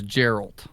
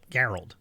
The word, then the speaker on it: Geralt: Oh, I thought it was Gerald. Nope. Geralt.